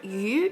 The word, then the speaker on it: 余: The word yu in that phrase means excess and extra in that context, but it has the same pronunciation as the word fish.